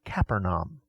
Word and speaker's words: Capernaum: seen a great light in English we typically pronounce the name Capernaum but an Israel they pronounce it Capernaum the name means city